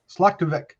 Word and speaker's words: Zlokovic: Written and directed by Anna Zlokovic.